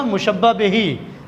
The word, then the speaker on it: مشبہ بہ: ہے۔ دوسرا مشبہ بہی، صحیح تلفظ ہے اس کا مشبہ بہی، کیونکہ عربی زبان کے الفاظ ہیں، تو جس چیز